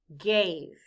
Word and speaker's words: gave: The letter A stands for the long A sound, A. The E is silent.